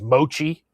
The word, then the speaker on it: mochi: And there's mochi. It's a long sound at the end.